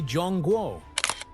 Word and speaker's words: Zhongguo: But inside the country, people still say Jong Guo and see their nation as the heart of a long unbroken cultural story.